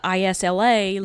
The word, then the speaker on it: Isla: Lightlark, her name is spelled ISLA, like So my is this daughter.